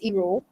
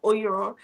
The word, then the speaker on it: Iro: Yeah, actually, my pronunciation is Iro. Yeah. So Iro. Yeah, yeah.